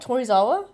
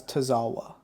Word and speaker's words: Tozawa: It's not Tori Zawa. No, it's Tozawa. Tawa Awa.